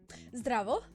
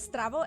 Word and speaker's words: Zdravo: Instead of Z, it's ZD instead of ST. So instead of Zdravo, it's Zdravo.